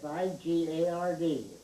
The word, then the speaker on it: Figard: How's her last name pronounced? Figard, F-I-G-A-R-D, Figard.